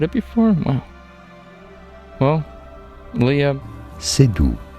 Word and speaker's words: Seydoux: Well, Leah Seydoux. Yes, a silent X there. Léa Seydoux.